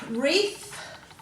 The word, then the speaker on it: wreath: So we've got wreath.